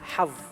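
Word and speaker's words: حظ: So the way to pronounce this is saying hav.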